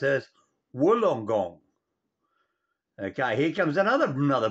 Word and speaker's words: Wollongong: actually spelled as long gong but it's actually pronounced as wolongong okay here comes another another brain teaser from